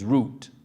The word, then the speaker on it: Root: So I went home and I asked my mom, I said, Mom, how do you pronounce this so ugly name? She said, well, your dad said it's Root.